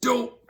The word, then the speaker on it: Doe: Literally pronounced Doe.